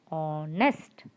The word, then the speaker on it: honest: If it's a vowel sound, you have to start with the vowel sound, as honest, or, honor. Okay, and like this one, like how H is silent, we have one more thing.